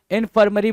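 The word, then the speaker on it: infirmary: इनफर्मरी बोलते हैं। क्या? इनफर्मरी। इनफरी। इनफरी। इनफरी।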